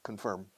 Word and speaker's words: confirm: Confirm. Easy. Pronunciación. No es confirm. Confirm. Como una firma de abogados.